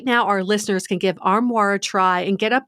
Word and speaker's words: Armoire: Right now, our listeners can give Armoire a try and get up to 50% off their first month.